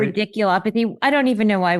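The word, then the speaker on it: radiculopathy: Um, and that new MRI confirmed degenerative disc disease uh with the cervical radial I can never pronounce this one right. Ridiculopathy.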